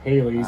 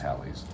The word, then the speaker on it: Halley's: I've always called it Halley's. It's not the typical. It's pronounced Halley's.